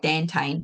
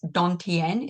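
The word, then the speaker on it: dantian: called a donen which if you looked at it looks like dantan but it's Donan is how it's pronounced so what they had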